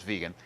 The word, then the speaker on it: vegan: fish only strict vegan which often I hear pronounced vague and I'm not sure where that came from and I'm pretty sure it's vegan but in any event